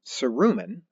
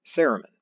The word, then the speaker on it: cerumen: is this stuff called either cerumen or ceremon which latter pronunciation seems more natural to me so that's the one i'll go with briefly the problem is